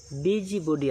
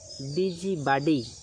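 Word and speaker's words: busybody: চলুন next word বিজি বডি আমরা সবাই বলি, বিজি বডি। এর সঠিক আমেরিকান উচ্চারণ হচ্ছে বিজি বাডি এবং ব্রিটিশ উচ্চারণ হচ্ছে বিজি বডি, যার অর্থ হচ্ছে অনধিকার চর্চাকারী বা মাতব্বর।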